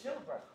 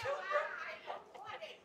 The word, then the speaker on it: Choolburra: Play a comedy routine with the didgeridoo, and my last name actually rhymes with Pilbara. It's called Choolburra. Yeah, Choolburra.